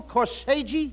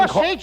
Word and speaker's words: corsage: Oh, Abbott, I bought her the most beautiful corsage. That's no, not corsage. You mean Corsage, it's good. No. You mean corsage. AGE is pronounced odge, as in corsage and garage.